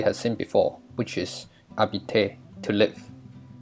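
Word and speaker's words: habiter: seen before which is arbite to live remember that letter h is silent so it is pronounced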